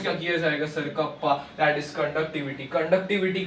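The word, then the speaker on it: κ: तो यहाँ पे उसे प्रोनाउंस क्या किया जाएगा sir, kappa, that is conductivity का यूनिट क्या है सर, ohm inverse metre inverse sir, Simon metre inverse भी लिख सकते हो।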